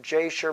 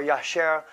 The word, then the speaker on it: Jasher: in the book of Samuel, the book of Jasher mentioned, or Yasher, however you want to pronounce that.